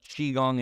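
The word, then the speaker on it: qigong: part of my practice explaining what chiong is because it's weird it's spelled Qi g n g Qi that's this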